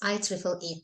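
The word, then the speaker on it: IEEE: MLA a also and how will we pronounce this one I wonder uh 3 a yeah three uh almost almost any other ideas question what would you suggest iple e yes yes I Triple E it is Triple E not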